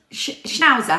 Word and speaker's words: schnauzer: Schnauzer, have I said it right?